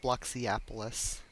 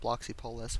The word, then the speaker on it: Bloxypolis: life in bloxy appolis it's spelled bloxy pois but there's a silent a it's just bloxy appolis but most people call it bloxy pois which is it's how it's spelled I just call it